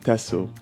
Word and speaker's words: Texel: history and cultural Traditions it's spelled t x but it's pronounced tesso in Dutch this Island spans approximately